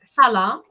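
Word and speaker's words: صلاة: Es una sa fuerte, no es se, es sa.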